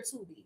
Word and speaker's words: Tubi: Is it Tubby or Tubi? Girl, don't give me a line. It's one of those. I think I was saying Tubby, and it was like, it's Tubi, or was I saying Tubi?